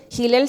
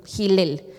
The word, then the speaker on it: Hilel: La otra postura que es la escuela de Hilel, Gilel se escribe H I L. Gilel.